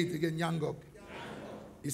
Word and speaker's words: Ngnangock: Say Ngnangock. Say it again, Ngnangock. It sounds difficult to pronounce, but it's a sweet name.